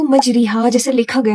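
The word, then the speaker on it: مجريها: लोग इस वर्ड को मजरीहा जैसे लिखा गया है आप उसको ऐसे ही पढ़ते हैं तो आप गलत पढ़े इसका जो करेक्ट प्रोनाउंसिएशन होगा ये होगा मजरेहा ना कि मजरीहा अब ये कैसे आप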